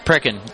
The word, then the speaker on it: Precon: Pronounce it for me. Precon? Precon, that's right. Precon, okay. With the accent a little different there.